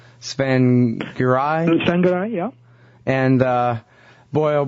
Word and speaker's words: Tsvangirai: Tsvangirai.